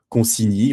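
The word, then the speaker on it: Concini: C'est que donc Catherine de Medici, c'est Consini ou Conchini, d'accord ? parce que peut-être certains Italiens ne seraient pas d'accord avec cette prononciation française.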